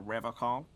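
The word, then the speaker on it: Revachol: to stay strong for rev call he pronounces revon with a hard K unlike other people serious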